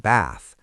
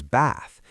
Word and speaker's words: bath: In southern British English and in received pronunciation, words like bath, path, dance, chance, can't, laugh, and ask are pronounced with a long ah vowel, like the sound in father.